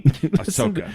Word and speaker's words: Ahsoka: Ahsoka.